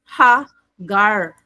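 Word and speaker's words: הָגָר: Okay ah ay what is in the name no hebrew pronunciation ha gar okay naulahi ko now hegar's flight in genesis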